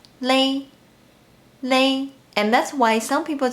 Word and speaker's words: 咧: Even though the ping and 注音 of this character is 咧, in daily life we pronounce it as lay.